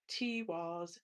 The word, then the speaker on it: Tiwaz: Tiwaz, accent on the first syllable.